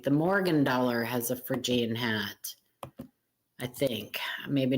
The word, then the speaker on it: Phrygian: PHR, not Phrygiana.